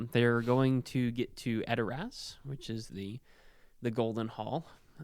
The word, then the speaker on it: Edoras: Gandalf says, "This is Edoras.